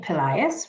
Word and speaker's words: Pelaez: glory certainly good morning i'm pelayus rhymes with the boy's name elias and i am the